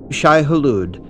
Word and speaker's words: Shai-Hulud: be rooted in arabic frank herbert almost pronounces it in the arabic way he almost pronounces the second portion of the word the arabic way of pronouncing this would probably be in arabic would